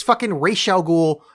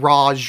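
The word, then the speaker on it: Ra's al Ghul: Falone not Falcone and it's R Al ghoul not Raj or whatever the they say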